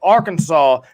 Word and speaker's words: Arkansas: some people like to call it Arkansas is how you pronounce it people but um so